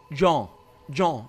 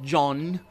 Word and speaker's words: Jean: Yeah, you don't really pronounce it as the French do. Jean. It's not John.